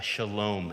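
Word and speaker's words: שלום: but as a a Shalom agent because what broke out on that stage was thriving which in Hebrew is pronounced shalom shalom is the word that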